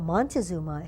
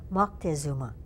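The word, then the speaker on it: Moctezuma: misspelling because I guess um what we call monuma his name is more correctly pronounced mzuma okay he was drinking a drink called chocolatl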